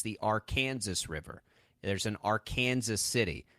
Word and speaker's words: Arkansas: Kansas it's not the Arkansas River it's the Arkansas River there's an Arkansas city it's very real it is pronounced our Kansas in this state that'll you'll you'll win